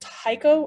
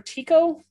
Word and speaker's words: Tycho: is the one called tycho or tico i've heard it pronounced two different ways but it's the brightest